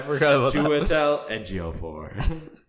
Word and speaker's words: Chiwetel Ejiofor: There's like Google pronunciations of names, and it's how I learned how to say Chiwetel Ejiofor. Yeah, right. I forgot about that. Chiwetel Ejiofor.